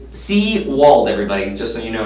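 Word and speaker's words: Sewald: It's Seawald, everybody, just so you know now.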